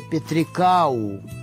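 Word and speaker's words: Пятрыкаў: И там даже есть город Петриков, но он называется по-белорусски с теми же как бы буквами Петриков, но по произношению он называется Петрикау. Петрикау.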